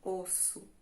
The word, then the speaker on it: osso: Então, aqui nós pronunciamos com o som de S normal, osso.